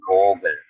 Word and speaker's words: Vogel: kalau di zaman maka ini dibacanya sama yaitu vogel. Vogel ya. E berarti kalau V kayak F malah ya. Iya, kayak F kalau di katanya ya.